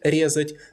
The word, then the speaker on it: резать: It's conjugated in the same way that the above-mentioned verbs, but it's stressed on the stem in all forms, because the infinitive резать is not stressed on the last syllable.